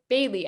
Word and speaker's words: Bai-li: he said to me your chinese name is bailey that's how you pronounce it in mandarin um but to keep